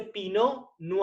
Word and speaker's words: Pinot Noir: uva pino lugar que se escribe con té final vino si lo pronunció para que sepan pero no se pronuncia latte pinot noir y tampoco se pronuncia la r si se dice pino no a esto les digo